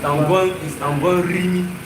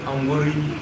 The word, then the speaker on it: Angwan Rimi: It's Angwan Rimi, not Angwarimi.